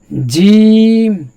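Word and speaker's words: ج: যেহেতু দুই দাগার আগের সঙ্গে উচ্চারণটা আছে। জিম একটু উঠতে হলো।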